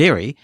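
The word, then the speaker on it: Lire: all very efficient if you are interested in L and its developer tells me that you pronounce it l it's French you know but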